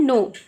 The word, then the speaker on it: know: नो. के silent रहता है.